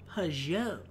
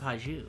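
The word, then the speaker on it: Pageau: I gotta say it like with the French accent. Pajot. There we go. Not Paju. Pajot.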